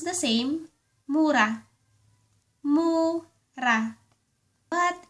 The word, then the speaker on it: mura: If you mean cheap or curse, it is pronounced the same, Mura. Mura. But if you mean the young, immature fruit of a plant, the word is pronounced Mura.